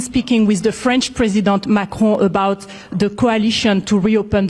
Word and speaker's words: Macron: Macron about the See, some of you guys think I'm being silly when I go Emmanuel Macron. But it's real. This is a French reporter. That's how you say it, Macron.